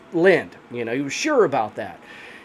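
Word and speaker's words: Lynd: And Lind is spelled L-Y-N-D, guys, Lind.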